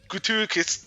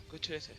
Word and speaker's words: gratuitous: it gives you a taste of how grat graticus Am I saying that right? Yeah. Gratuitous.